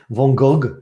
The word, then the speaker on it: van Gogh: there he is vincent van gogh or van gaal van gogh the americans say von gogh the french say don't know what the